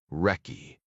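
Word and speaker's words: recce: Delta Force had inherited several traditions from the British SAS, including their slang like calling reconnaissance missions wretch, pronounced wrecky.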